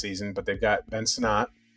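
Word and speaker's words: Sinnott: play again next season, but they've got Ben Sonat. Yeah. Right. Senote or how you say his name? Sonat.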